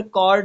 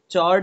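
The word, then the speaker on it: chord: चलिए ठीक, तो यहाँ पर कॉर्ड होगा, चॉर्ड नहीं होगा, ध्यान देना.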